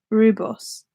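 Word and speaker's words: rooibos: Lydia tell everyone Oh someone told me how to pronounce the ingredient in the tea so read Bertie rube rube rebus rebus is how he's pronounced what I thought it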